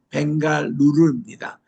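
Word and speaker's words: Bengaluru: 옛날에는 영어로 발음은 벵갈로인데 현지 발음은 벵갈루루입니다.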